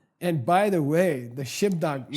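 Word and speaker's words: གཞི་བདག: 它的发音是 Shibda，我们要发出 B 这个音 Shibda。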